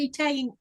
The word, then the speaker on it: Italian: It's Italy or Italian, not the way you said it. I'm like, okay. Because I made them an Italian, I called it an Italian cream cake, which is what it's called.